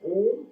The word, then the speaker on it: om: And you can create this humming sound by saying an om, a short and o. The first two syllables are really short. The last syllable, ma, is really prolonged till your exhalation is complete.